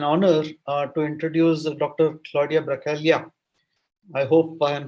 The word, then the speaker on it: Bracaglia: Claudia Bracaglia. I hope I am spelling the second name right, because G is silent in Italian, as I realize.